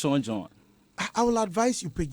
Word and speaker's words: Zonjon: See, I'm even finding it difficult to pronounce it. It could have been something very simple. Zonjon.